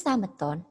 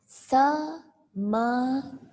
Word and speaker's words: sameton: Ditulis sameton, tapi dibacanya adalah semeton. Sudah semeton. Jangan dibaca sameton. Ada e-nya ya.